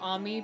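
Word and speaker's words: Ammy: Yumi Slaughter all the celestials as he tried Amy it it's pronounced Ami because it's just uh amr's nickname it said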